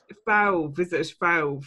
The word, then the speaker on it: Fauve: french here no no it's it's valve so f-a-u-v-e so this one was